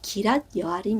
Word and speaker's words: 기랏 여아림: 우리가 한글말로 나무 밭인데이 히브리 말로는 어 야일의 밭 해서 발음이 기랏 여아림 이래요 그러니까 우리가 기랏 여아림